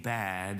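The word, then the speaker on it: בַּד: first mention of anything bad has to do with a human being being alone um the Hebrew word for alone is actually pronounced bad like it's bad alone and it's bad because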